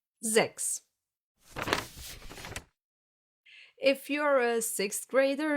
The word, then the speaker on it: sechs: a word, and a soft S that gets pronounced as an S. Sechs.